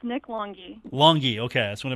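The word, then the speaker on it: Longhi: So we had a lot of people mispronounce his name. Long High, Long He, everything you can think of. But yes, it is Nick Longy.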